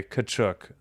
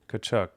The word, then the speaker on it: Tkachuk: Okay, Tkachuk. All right. Tkachuk. All right, sorry, I was wrong. I always thought it was the T. So the T is silent.